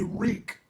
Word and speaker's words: Reek: During this confusion, Theon Greyjoy, aka Reek, it rhymes with sneak, escapes in search of Stannis' troops, which are buried in a blizzard.